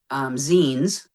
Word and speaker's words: zine: one of the zines, which we all called Zine at first because I'm an English person and that word is Zine. That's how it's spelled. Yep. Sure. Yeah. Z-I-N-E, And so Zine. we said that forever and I'm like, wait, magazine. Hold on a minute.